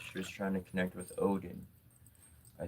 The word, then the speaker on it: Odin: She was trying to connect with Odin. I said, you're saying the name. I said this is how you pronounce the name. Ordine.